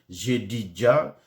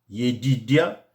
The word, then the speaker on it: Yedidia: Dans d'autres versions, vous verrez, c'est Jedidja, mais Yedidia, pour moi, c'est la bonne prononciation.